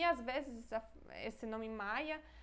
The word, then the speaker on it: Maja: escreve com J mesmo em polonês J se pronuncia com som com som de i então Maia Maia e esse nome